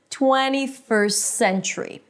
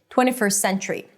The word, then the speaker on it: 21st century: However, and this is what I do, I just eliminate the T. I don't pronounce it.